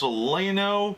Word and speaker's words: Celaeno: Might be pronounced Celaeno, but I'm pretty sure that AE is the equivalent of an I, like as in like, or more of an E.